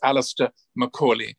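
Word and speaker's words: Alastair Macaulay: works and if you want to check the pronunciation of my name it's alistair macaulay but when i visited india it was a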